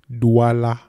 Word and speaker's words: Douala: Douala. It's right there. It's D-D-D-A-La. Three syllables.